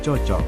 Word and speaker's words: cocok: Cucuk seharusnya cocok. Perbaikannya, cucuk menjadi cocok. Penjelasannya, yaitu kesalahan terjadi karena adanya perubahan bunyi vokal U menjadi O, sehingga pelafalan tidak sesuai dengan bentuk baku. Bentuk yang benar adalah cocok.